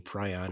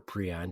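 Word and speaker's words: prion: Well, what's fascinating about the pryion or pion depending on how you pronounce it, um the gene itself is normal in the human body.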